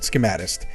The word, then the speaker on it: Schematist: Yes, that's how I pronounce it, Schematist. It looks like Schematist. Because I want to say schematic, but it's tist at the end.